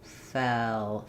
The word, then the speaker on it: fell: So I think for this e and l combination l the tongue is fairly flat for fa foul I have to lift my tongue in the back more and then drop it for the L. So, I would say you're probably needing to just keep the tongue more flat.